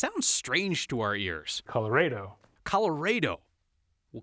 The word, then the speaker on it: Colorado: the Spanish pronunciation Colorado you don't have a Caddo so it should be Colorado like avocado Lake tostada right Santa Ball says that's